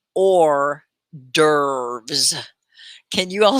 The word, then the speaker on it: hors d'oeuvres: make sure it's shared everywhere okay so it's pronounced or dervs can you all say that now say it